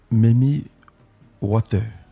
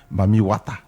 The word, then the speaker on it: Mami Wata: Et au départ, ça a commencé par Memi Water, c'est-à-dire que la mer des eaux. Et donc, chez nous en Afrique, la prononciation est ghanéenne ou nigérienne où il y a des abrégés, donc ils ont abrégé, on dit Mami Wata, parce que chez eux, pour dire l'eau, au lieu de water, ils disent Wata.